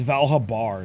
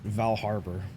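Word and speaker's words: Val Habar: r before the b it's valhabar not val harbor but i've always said val harbor for some reason it's like it's like one of those like words that tricks your brain i'm looking to recruit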